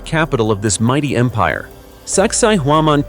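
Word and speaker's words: Sacsayhuamán: Located on the edge of the ancient city of Cusco, once the sacred capital of this mighty empire, Sakai Huaman, pronounced Sakaiwan in the native tongue, is not just the ruins of a fortress.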